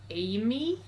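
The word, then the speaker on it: A.M.I.: m dot i uh in the movie they pronounce it as amy uh but with an y rather than an i so i'm just gonna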